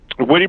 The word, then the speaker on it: Witte: Witte Bros, yes. Oh, Witte Bros. That's how you pronounce it.